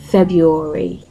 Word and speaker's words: February: quickly the month February February now when you pronounce February you do not say Fe no not at all so you notice the r in the word is not pronounced another example is CH